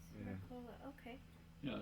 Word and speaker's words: Mercola: Mercola, okay.